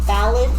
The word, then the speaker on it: Ballad: Ballad? Yeah, it's Can you spell that for me? T-H-A. Oh my goodness, I'm going to kill you. K-I-L-L-Y-O-U. B-A-L-L-A-D. Okay, ballad, like the song.